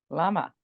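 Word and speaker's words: למה: Anybody know how to pronounce that? Lama.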